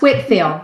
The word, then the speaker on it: Whitefield: your dissertation on George Whitefield yes and it's pronounced Whitfield that spelled Whitefield yes so he was a